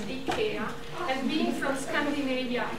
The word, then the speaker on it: IKEA: you i know that in the u.s you call it ikea but the right pronunciation is the care and being from scandinavia